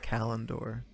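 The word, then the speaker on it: Callandor: how did the audit how did the audiobook people say it because they're always right yeah yeah calendar all right I'll probably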